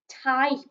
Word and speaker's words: type: because in this word the letter y makes an i sound and the p and the e go together to make a sound the e is a silent letter which we sometimes have a silent e on the end of words so this word is i type i can type on